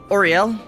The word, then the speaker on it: Oriel: So real quick, Marcus, you do make your way to the maiden's room, where a lovely madame named Oriel, female tiefling, Rhymes with oral.